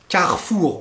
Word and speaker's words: Carrefour: souvent on l'entend donc carrefour on le prononce comme ça carrefour vous avez michelin michelin